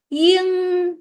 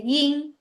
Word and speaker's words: 英: So people from China might sound 英文, but me, if you hear me saying the word 英, I actually don't say that. I say 英. It's just like yin, 英文.